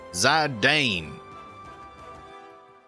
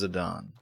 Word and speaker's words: Zidane: was like oh oh it's just an Italian name and I was pronouncing it like an American zardane yeah it is it is pronounced Zidane I actually prefer Zidane